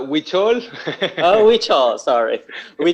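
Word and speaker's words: Huichol: american mexican artist promoting hoocho art i hope i don't make a mistake in pronouncing that yeah uchol is it correct zillow it's uh witchol oh which are sorry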